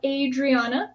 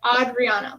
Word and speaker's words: Adriana: It's not Adriana. It's like Adriana. Like like an odd version of Rihanna.